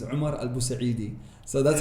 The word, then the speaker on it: Omar Al Busaidy: example you know you you pronounce my name Omar but actually my name is Omar al busa really so that's how